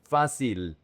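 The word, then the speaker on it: fácil: Grande Bueno fasil. This is one of the most difficult words for English speakers. The emphasis is on the fa and the c i l is not pronounced f is basil sil.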